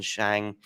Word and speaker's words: Shang: I might have said Sheng once rather than Shang.